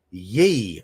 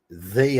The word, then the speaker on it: Ye: pronunciation of my name, because a lot of people call me Ye, and it's the, because that ye, that Y, is an English way of writing TH.